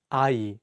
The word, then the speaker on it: 아이: Let's take the word 아이, which means child. In this word, the ieung in each syllable works as a placeholder and only the vowels are pronounced.